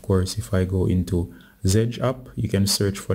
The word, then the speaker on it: Zedge: ringtone so if i say just once with zedge it will open up zedge i give the